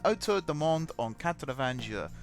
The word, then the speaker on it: Autour du Monde en 80 Jours: Autour du Monde en 80 jours.